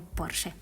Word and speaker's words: Porsche: En esa misma feria se encontraba el ingeniero Ferdinand Porsche, que en realidad se pronuncia pero vamos a decirle Porsche.